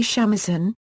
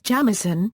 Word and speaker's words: shamisen: The Japanese pronunciation is usually shamisen, but sometimes jamisen, when used as a suffix.